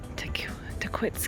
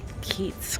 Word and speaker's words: Tahquitz: i'm pronouncing it right it is like a hard quits not what i thought was going to be keats because that's how my brain processes like to keep the t-a-h-q-u-i-t-c i watched a video one of the rangers and they said to quits i think it's how